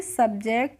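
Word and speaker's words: subject: क्या पढ़ेंगे सब पढ़ेंगे इसको हम शुभ नहीं पढ़ते क्या पढ़ते हैं सब और जे हो गया जे और सीटी हो गया तो इसको पढ़ लेंगे सब्जेक्ट और सब्जेक्ट का मतलब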